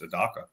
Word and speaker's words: Adaka: Then we don't have to figure out how to pronounce Adaka, even though it's pronounced Adaka.